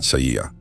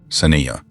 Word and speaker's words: Saniyah: Saniyah Nicholson, not Sa'iyah. Saniyah.